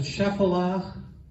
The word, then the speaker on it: Shephelah: Okay, the coastal plain and the Shephelah. Some people pronounce it Shephelah. I've heard it pronounced different ways. Is here along the sea coast. Any of you familiar with the story of David and Goliath? Shephelah.